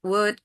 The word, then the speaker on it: would: So make sure that you're sure with your pronunciation, like should, would, could. The L is not pronounced.